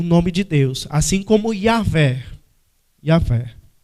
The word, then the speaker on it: Yahvé: Yahvé. Por isso que não é Jeová.